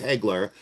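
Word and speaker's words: Hagler: No, it's Hegler.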